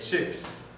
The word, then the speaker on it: chips: manque un S les chips les chips la prononciation c'est comme en anglais les chips les chips